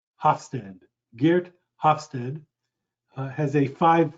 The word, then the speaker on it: Hofstede: dutch researchers one researcher his last name is hofstede i'll spell that for you it's h o f as in frank s as in sam t e d e hofstede geert hofstede has a five factor model that